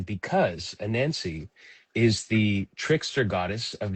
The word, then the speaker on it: Anansie: if that's correct I looked it up it is a nansancy with the emphasis anan because a nansancy is the trickster goddess